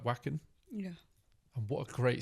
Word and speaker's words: Wacken: Not a lot of battle jacket chat so far, but yeah, I got invited to Wacken last year, or Wacken, I should say, Yeah.